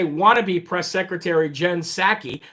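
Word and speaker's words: Psaki: wannabe press secretary jen sackey the p is silent just like in president with resident biden uh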